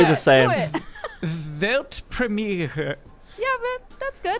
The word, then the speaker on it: Weltpremiere: It's actually Weltpremiere. Pretty simple, right? I think I could do It's basically Yeah, the same. do it. Weltpremiere. Yeah, but that's good. Weltpremiere.